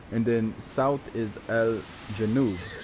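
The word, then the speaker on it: الجنوب: And then south is Al-Janub, right?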